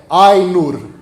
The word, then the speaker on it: Ainur: Toda vez que alguém pronuncia uma palavra élfica como oxítona, morre um elfo da floresta, gente. Não façam isso, tá? Por favor. Ainur, Valar, Haradrim.